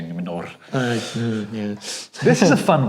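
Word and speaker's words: Númenor: I've got to roll your R's when you say Numenor.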